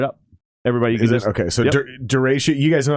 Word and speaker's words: Derechö: how we pronounce it i think the term i think like the actual storm is called duratio yep i think you're absolutely right i like calling it dare show dara show yeah i like the show